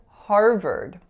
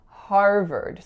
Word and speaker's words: Harvard: really confusing right because there are two vowel sounds and they're different sounds if you look at the spelling they both look like a are so what I hear a lot for this word is har vard RR but in fact we're seeing Harvard so it would make more sense if it was spelt ve R deep but of course it